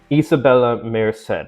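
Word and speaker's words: Isabela Merced: pronounced Isabella Shannon The Last of Us Isabella Isabella Meed that's how you pronounce it okay yeah no she's [ __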